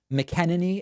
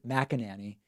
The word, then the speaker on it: McEnany: I you know just I've heard it pronounced McKenna nee and Mac and Annie and you know that's